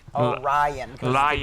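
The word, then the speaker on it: Rajan: So my my name would be spelled um R A J A N like Orion is like a long I so so J means Y in Croatian.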